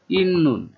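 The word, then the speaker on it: 있는: মঞ্জ প্রথমে ইয়গি, এখানে ইন নুন, এটা উচ্চারণ হবে ইন নুন।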